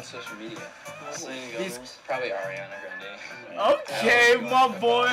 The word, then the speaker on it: Grande: media he's probably ariana grande okay my boy that's how i say her name although i heard that it's actually granny granny yeah yeah that's how she pronounced it brandy phillips that's